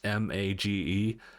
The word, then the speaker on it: Magearna: It's spelled like mage, Magearna.